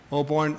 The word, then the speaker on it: Oborn: for us uh City administrator Blaine oborn b-l-a-i-n-e oborn o b o r n and it's a